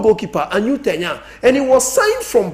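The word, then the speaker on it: Arnau Tenas: The name pronunciation is a Catalan. Who born in English, or say Anau Tenas. But in Catalonian, Anu Tenya.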